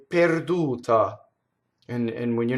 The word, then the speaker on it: perduta: That's wrong. It doesn't rhyme with pear. It's pay, like to pay somebody, right? Per, perduta.